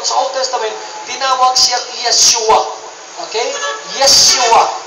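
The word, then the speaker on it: ישוע: Pero ang pagkabanggit talaga niya sa Hebrew word is Yeshua.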